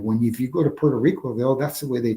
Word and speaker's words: Puerto Rico: words correctly in the in Puerto Rico people when they say they are they usually sell L's like ptoo they'll say ptoo and instead of say name Puerto Rico and but Willie Willie pronounces with Spanish with r really good and I'm not making